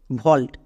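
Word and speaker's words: vault: যেমন এক্সাম্পল দেখো, ভল্ট, এখানে এ এবং ঠিক তার পাশে ইউ আছে, তার মানে ভাওয়েল ব্লেন্ডিং ওয়ার্ড, এর জন্য সাউন্ড করব ও। কখনো আমরা কিন্তু ডবল শূন্য ও এরকম সাউন্ড করব না। তাহলে ভি, ভি এর জন্য ভো, AU এর জন্য ও, ভো প্লাস ও, ভো হয়ে যাবে।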